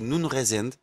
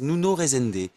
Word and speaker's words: Nuno Resende: Alors, en portugais, ça se dit Nuno Resende, et c'est imprononciable pour le français. Alors, la plupart disent Nuno Resende, d'autres disent Nino, Nuno, Donc si Nano.